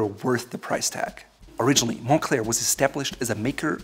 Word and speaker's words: Moncler: Moncler is pronounced that way because it's derived from the name of a town, Monestier de Clermont. So it's not Moncler, it's Moncler.